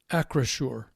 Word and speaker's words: Acrisure: Do you know how to pronounce the new name? Acrisure.